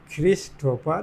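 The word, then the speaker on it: Christopher: क्रिस्टोफर, CHH नहीं होगा, छ होता है। CHH में क्या उच्चारण होता है? छ। तो क्रिस्टोफर, ख हो जाएगा CHHRISTOPHER, क्रिस्टोफर सिल्वेस्टा। अब आते हैं 8 नंबर गोइंग प्लेसेस।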